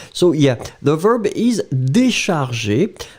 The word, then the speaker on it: décharger: Remember that the accent aigu should be there. This is the reason why we pronounce it décharger.